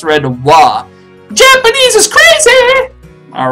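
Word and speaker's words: は: my cords again restaurant it's pronounced wha so you're going to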